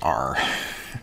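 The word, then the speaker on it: ℝ: a quick notation here this fancy r here means the all real numbers and it's pronounced just r so we would say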